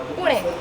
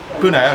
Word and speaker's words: Pune: Before we go anywhere, how do you pronounce it? Pune. Pune, okay, cool.